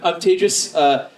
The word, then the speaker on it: Tejas: I'm Tejas. That's pronounced like contagious.